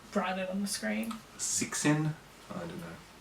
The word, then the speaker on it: Cixin: Three-Body Problem by Liu Shixin. That is not how you pronounce. We'll write it on the screen. Cixin? I don't know. It's an X is a sh sound.